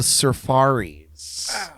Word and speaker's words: Surfaris: It is Wipeout by the Surfaris. Shit. You couldn't pronounce Safaris? I still wouldn't get that. Jordan read it as Surfaris.